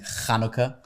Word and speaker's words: Chanukah: first time I see people are pronouncing Chanukah, and now they're saying hummus. The ch is finally catching on. Finally. The ch is going to become an American sound this year.